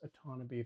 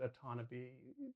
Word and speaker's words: Otonabee: I'm super impressed that they pronounce Otonabee the right way. There was one version of it, and I think in the long version it was said once in a weird way. But in this one, they pronounce it Otonabee the correct way, like every time.